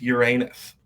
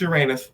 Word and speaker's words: Uranus: BJ, let me see if Pluto and Neptune are aligned with Uranus.